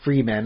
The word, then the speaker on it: Fremen: There seems to exist only 2 life forms: humans, the Fremen, or I guess Freemen is how, depending how you want to pronounce it. They call it Fremen in the series, so the Fremen.